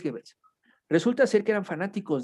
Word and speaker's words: Goebbels: ahorita te lo busco, creo que se pronuncia Goebbels, pero es Goebbels, Ok, ok. pero casi estoy seguro que es Goebbels.